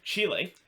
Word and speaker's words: Chile: mother which is in chile or not chili but chile i gotta pronounce that